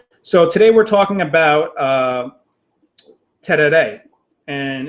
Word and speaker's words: Tereré: So today we're talking about Tereré, and it's kind of difficult to pronounce. Tereré. It has that "rey" at the end.